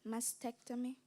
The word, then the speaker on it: mastectomy: you please repeat the word mastectomy am I pronouncing it right mastectomy that is correct mastectomy m a s t